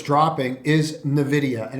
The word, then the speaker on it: Nvidia: get out of it or it's dropping is Nvidia, and it's pronounced Nvidia for those that want to know the correct pronunciation of it.